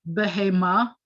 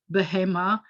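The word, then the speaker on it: בהמה: a woman here isha this word behema accents on the last syllable which is typical isha by the way accents on the last syllable bahema so behemoth is usually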